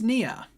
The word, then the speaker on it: Nia: It's Nia, by the way. Nia has 2 syllables in her name.